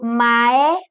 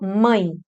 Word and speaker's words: mãe: Te pergunto, você pronunciou mae? Duvido, você pronunciou mãe. Mãe. O E com som de I.